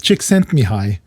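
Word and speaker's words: Csikszentmihalyi: By the way, the name we were looking for was it's hard to pronounce. Chick Sent Me High. The guy's name was Chick Sent Me High.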